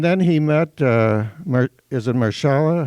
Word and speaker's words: Mahershala: And then he met, is it Mahershala? How do you pronounce it? Mahershala.